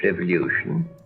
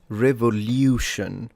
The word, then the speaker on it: revolution: He was born in the early years of the French Revolution. Did you notice how he pronounced revolution rather than revolution? So, liu instead of lu.